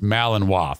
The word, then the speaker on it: Malinois: aspergers i'm not sure i understand it is pronounced malinois thank you a german shepherd with aspergers why